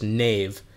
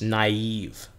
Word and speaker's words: naive: naive to me now we don't pronounce this knave it's naive naive spelling is a